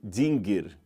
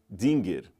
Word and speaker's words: Dingir: O acadiano é uma língua silábica, não é alfabética, então cada símbolo desse você lê como se fosse uma sílaba, tá certo?